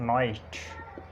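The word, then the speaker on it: knight: Knock, knowledge, इसी तरह नाइट और ये नीट, नॉट। ये एग्जांपल्स हैं। यानी एन से पहले के साइलेंट होता है।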